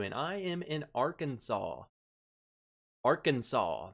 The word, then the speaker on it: Arkansas: i am in arkansas arkansas that is how you say it bumpy yeah for anyone calling it our kansas i'm coming for you mouth coding for sure